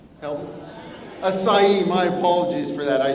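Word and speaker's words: açaí: this the one thing I didn't learn to pronounce aai help asai my apologies for that I stand corrected Tony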